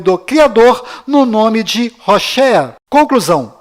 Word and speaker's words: Hoshea: Mas a pronúncia correta de Oséias é Hoshea.